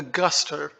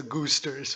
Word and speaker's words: Guster: Now the Guster. I used to pronounce their names as the Goosters, which is incredible. Just Goosters.